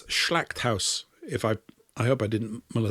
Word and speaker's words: Schlachthaus: It's Schlachthaus. I hope I didn't muller that. But that's for slaughterhouse, Schlachthaus.